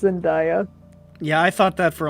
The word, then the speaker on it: Zendaya: up and i saw zendaya yeah it's it's z-e-n the word day ah how do people